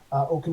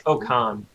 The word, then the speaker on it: Okan: So in this case, Oaken has rolled a 48. And by the way, it's Okan.